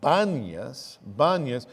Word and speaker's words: Banyas: And so it's renamed in Arabic Banyas, because in Arabic there's no p sound.